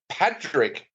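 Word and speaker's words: Pádraic: But I know a couple of other Irish people that have actually looked at that and said that it's said as Patrick. As in Patrick with a D.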